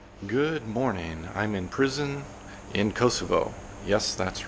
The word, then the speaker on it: Prizren: good morning I'm in prison in Kosovo yes that's right it's prison but it's pronounced prison PR i--'s e AR en but if you